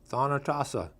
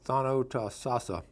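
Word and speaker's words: Thonotosassa: Okeechobee, Kissimmee, Withlacoochee, Weehawken, Okefenokee, Wauchula, Thonotasa. I think I mispronounced it. Thonotosasa, okay, Chattahoochee, Choctawhatchee, Ocoee, and Micanopy.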